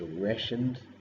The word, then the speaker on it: ration: Another word is rationed, less common. The T is silent in ration.